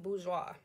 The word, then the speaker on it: bourgeois: you might hear um or aka boujee it's pronounced bourgeois all right and that definition is when you're